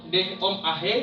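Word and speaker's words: δέομαι: Dan memohon dalam bahasa Yunani disebut deomai, atau dalam pelafalannya deom ahe, yang artinya memohon sebagai pengikat diri, berdoa untuk atau membuat permintaan.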